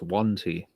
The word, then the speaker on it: Yuan-ti: For somebody who loves pronunciations, I would expect you to know it's Yuan-Ti.